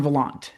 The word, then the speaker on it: Valant: Anyway, so you say your name rhymes with nonchalant Volant. Okay, for better or worse, that is true.